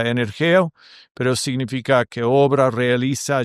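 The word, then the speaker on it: ἐνεργέω: La palabra en griego obra significa o o se pronuncia energeo, pero significa que obra, realiza, lleva a cabo, produce y es un participio, participio presente y sugiere actividad continua.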